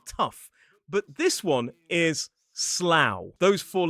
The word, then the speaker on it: Slough: a place which looks like it should be pronounced slough rhyming rhyming with things like rough and tough but this one is slough.